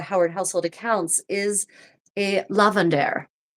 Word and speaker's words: lavender: household accounts is a lavender. Not lavender, lavender or lavandera if the final E is pronounced in that dialect of English.